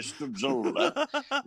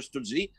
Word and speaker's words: Stützle: D'abord, c'est pas facile à prononcer, Tim Stützle.